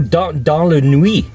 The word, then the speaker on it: dans la nuit: Dansla Quit, which is pronounced 100% wrong. The way I just said it, but that's what it looks like. D-A-N-S La. Oh, dans la nuit.